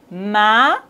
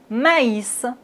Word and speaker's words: maïs: sur le i donc on doit prononcer le a et le i séparément maïs maïs mais maïs voici un